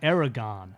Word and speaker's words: Aragon: how to say stuff look in the back of the book Aragon yes in in Aragon in the pronunciation gu it's it's it'ss n aragan aragan that's how you say aragan that was very confusing